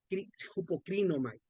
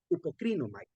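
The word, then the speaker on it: ὑποκρίνομαι: Y esta se pronuncia hupocrinomai, hupocrinomai.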